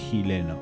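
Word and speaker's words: xileno: este tipo de pintura se llama chileno con x empieza capa que se pronuncia chileno pero bueno chileno y también puede ayudar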